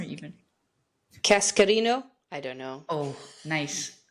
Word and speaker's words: Cascarino: Cascarino.